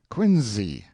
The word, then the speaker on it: Quincy: the Cradle of Liberty you must learn to pronounce Quincy as if it were quiny and fanel as if it